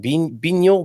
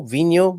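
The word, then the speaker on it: vinho: we're talking about boost is vino pronounced with a v sound or a b sound so it's a v i wonder why he's think saying that bino vino maybe it's just maybe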